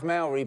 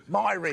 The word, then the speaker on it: Myrie: I was just thinking, Bridget Jones doesn't rhyme with Myrie! Of course, it's diary!